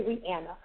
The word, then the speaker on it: Rihanna: This one is from Rihanna, and she says it's pronounced Anna in the middle. Okay, Rihanna.